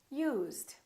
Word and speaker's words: used: Use, used.